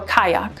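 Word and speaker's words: qajaq: or sync q a j a q or kayak t-r-a-n-q or tranq u-m-i-a-q or yumiac q-u-l-l-i-q or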